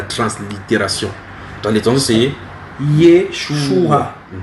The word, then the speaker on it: Yeshua: Dans les temps c'est Yeshua. Et en phonétique, c'est 3 syllabes. 3 syllabes. Yeshua.